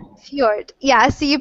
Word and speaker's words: fjord: Like, I still can't pronounce this very well. Fjord. Fjord.